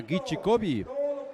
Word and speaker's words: Guichicovi: contra el equipo de San Juan Guichicovi, que esa es la pronunciación correcta, Guichicovi.